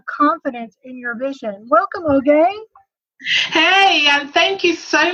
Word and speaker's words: Oge: Welcome, Oge. Hey, and thank you so much, Jennifer, for having me. So the pronunciation is. So Oge, but thank you so much for having me.